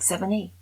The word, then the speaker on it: Sevigny: It's like 7E. 7E. That's it. 7E. 7 with an E on it.